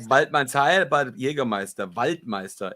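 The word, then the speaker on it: Waidmannsheil: Waldmanns Heil. Waldmann's Heil. And that's how people in the forest greet each other. Right. Like I was pronouncing it Weidmann's Hail.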